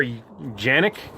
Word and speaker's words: Canik: move and he's opening the Kanak or Janek as they pronounce it in Turkey t p9 s a